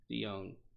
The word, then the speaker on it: DeJong: DeJong. That's how you say his name. I've been mispronouncing it.